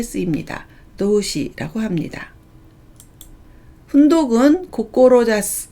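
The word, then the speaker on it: 志す: 훈독은 고꼬로자스, 고꼬로자시라고 읽습니다.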